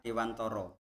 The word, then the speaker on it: Dewantara: Ya, jadi di sini walaupun tulisannya Dewantara, tapi menurut kami membacanya adalah Dewantoro.